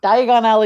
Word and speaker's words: Diagon Alley: does and diagonally diagonally now I can't even say it wrong diagonally that's the way most people would say it Diagon Alley it's not a thing diagonally is a beggar I'm alley isn't it it's a pun I don't have a